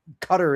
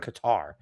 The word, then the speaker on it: Qatar: I don't care if they tell them to pronounce it that way. That's like when people say uh cutter instead of Qatar or Keev instead of Kiev.